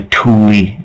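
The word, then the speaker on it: Thule: to call themselves the Tuli uh the like t h l e but pronounced t o o l i e that's what Atlantis was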